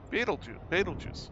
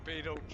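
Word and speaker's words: Betelgeuse: Beetlejuice. Yeah. Bloody hell. Gotta pronounce it right, Philip. It's Beetlejuice, it's not Beetlejuice.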